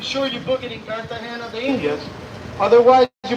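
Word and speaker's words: Cartagena: One of the old towns of Kartahena, Colombia.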